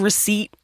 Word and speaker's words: receipt: looking at the word receipt and wondering what the the p is doing there like I'm just going to I'm mhm what the p is silent then why the [